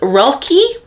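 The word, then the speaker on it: Roelke: next POV is her boyfriend um uh it's pronounced Ry and it's spelled r o c l k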